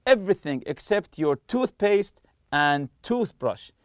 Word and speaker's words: toothbrush: except your toothpaste and toothbrush so toothpaste and toothbrush are compound nouns and we stress the part of the tooth you say toothpaste toothpaste or toothbrush lastly here I'll look